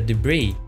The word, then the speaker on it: debris: The debris. Right, that you don't pronounce.